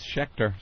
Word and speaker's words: Schecter: Yeah, that's Schecter.